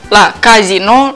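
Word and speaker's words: casinò: также танцевали слушали музыку в современном итальянском термине казино с ударением на второй слог означает прежде всего публичный дом представляешь для именования игорного дома нужно добавить акцент то есть ставить ударение на последние слова то есть казино казино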